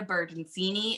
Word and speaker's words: Bertoncini: They do say Bertoncini, and I'm like, well, you're technically right because in Italian, pronounce when it's like a ci, it's chi.